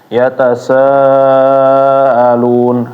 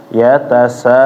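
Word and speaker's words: يتساءلون: Jadi ketika membaca misalnya tadi yatasaalun, alun, a-nya kurang jelas. Ini banyak. Kalau misalnya sebelumnya panjang ketemu a, nah biasanya a-nya ini nggak jelas nanti. Yatasaalun, alun. Nah, seharusnya yatasaa. Benar-benar hamzahnya keluar dari bawah tenggorokan ya. Yatasaalun, alun, saalun. Jangan saalun.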